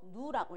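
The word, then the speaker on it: ν: 자, 그럼 에너지 E는 플랑크 상수 H 곱하기 진동수를 갖다가 V 비슷하게 쓰고 누라고 읽어줘요. 누, 진동수 누입니다.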